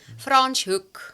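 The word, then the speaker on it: Franschhoek: How do you pronounce it? Franchook.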